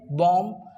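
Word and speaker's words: balm: टी एल के talk B ए एल एम बॉम डब्लू ओ यू एल डी वड और एस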